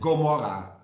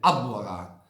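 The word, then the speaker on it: עמורה: From that we have Sodom and Gomorrah. It is of course Sodom and Amorah. Amorah is with an ayin, it's with a hard ayin, and that is then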